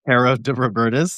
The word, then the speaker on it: Caro De Robertis: I guess I realized So Many Stars, and it's Caro de Robertis. Is that how I say it correctly? Yeah.